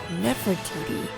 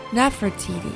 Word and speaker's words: Nefertiti: beautiful woman has come while the modern egyptological pronunciation renders her name as Nefertiti her name could have been pronounced as Nefertiti at the time since we do not